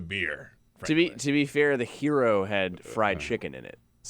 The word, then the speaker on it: gyro: I thought they were called gyro. No, hero. I never know the correct pronunciation. The correct pronunciation. That's why I don't order hero. It is hero, but it's spelled Gyro.